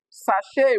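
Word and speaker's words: sachet: Now sache will be transcribed as this sache.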